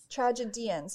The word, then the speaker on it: tragedians: tragedies now i'm now i'm nervous that i'm mispronouncing it no you're saying it right because when i figured it out i'm like oh it's like comedians yeah no no it's not tragedy tragedians yeah i think it's a